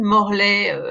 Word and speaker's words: Morlet: Donc, de toute façon, si vous tapez Morlet, M-O-R-L-E-T, E-T comme Chevrolet, comme je dis aux Américains qui prononcent souvent très mal mon nom, eh bien, vous allez